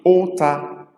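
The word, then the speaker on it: ụta: A variation of u, which is u with dot under, pronounced as o as in ota, ota, which is bow, ota is bow, which is used to shoot arrow.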